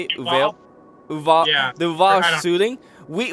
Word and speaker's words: Uvalde: Archimage, when we heard about the is it Uvalde? Is that how you say it? Uvalde?